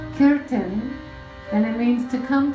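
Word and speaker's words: kirtan: means the word Kiran it's some people say Kuran or Kon but it's a Sanskrit word and it's pronounced Ken and it means to come together to sing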